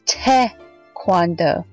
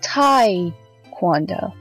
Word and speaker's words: Taekwondo: By the way, it's pronounced as Taekwondo, not Taekwondo. Sorry, I had to get that off my chest. It's so cringy every time I hear someone pronounce it as Taekwondo.